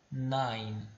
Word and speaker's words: nine: em inglês nós pronunciamos nine, tá? Nine. E detalhe, mais uma vez, esse ezinho que você está vendo aqui no final, ele não sai na pronúncia.